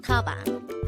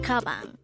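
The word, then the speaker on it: 가방: The Korean term for bag is kabang. Again, it's kabang. This is pronounced with two syllables. The first syllable is ga, the second syllable is bang.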